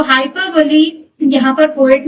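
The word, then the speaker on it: hyperbole: हाइपरबली spelling उसकी ऐसी होती है लेकिन प्रोनंसिएशन होता है हाइपरबली।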